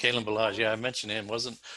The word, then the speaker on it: Kalen Ballage: Keelan Ballage. Is that how you pronounce it? Kalen Ballage.